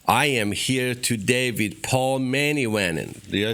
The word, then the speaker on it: Paul Manivannan: I am here today with Paul Manivannan.